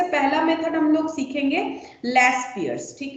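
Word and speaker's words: Laspeyres: index में सबसे पहला मेथड हम लोग सीखेंगे लस पियर्स ठीक है तो लस पियर्स ये स्पेलिंग है एल ए एस पी ई वाई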